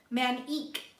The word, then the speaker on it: Manik: But I don't think it's pronounced like that, but we're gonna read this one for you. Let's see. Okay, so this Manic card. Ceremony of surrender is on the page before this, so it's really telling you to surrender. Manik is how it's pronounced.